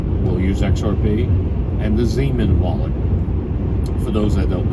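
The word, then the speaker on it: Xaman: using for example we'll use xrp and the Zan wallet for those that don't know Zan is spelled x a m n used to be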